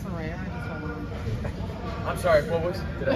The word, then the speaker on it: Saraya: Yeah, it's pronounced Saraya.